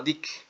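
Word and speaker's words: deque: es interesante notar que el término dec escrito se pronuncia como Dick y finalmente podemos decir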